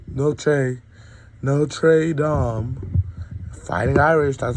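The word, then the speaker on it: Notre Dame: No trey dom. Fighting Irish. That's how you pronounce in Irish. It's Dom. Kind of like damn, but dumb, you know, kind of like a zesty.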